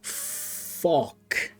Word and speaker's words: Fock: His name is Fock. You gotta emphasize the O. Enunciate the O.